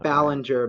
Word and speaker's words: Belanger: excuse uh Michelle technically pronounced like Ballinger but it's pronounced Ballenger yeah that's basically whether